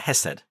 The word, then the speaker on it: Hesed: And so the Hebrew word is pronounced hastaka, but if it were without the thy, it would be Hesed.